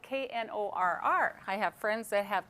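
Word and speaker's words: Knorr: I want to put the K in there because it's spelled K-N-O-R-R.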